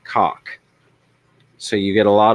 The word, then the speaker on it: KOK: But the flower horn has a nuchal hump on its head, which is a KOK pronounced cock.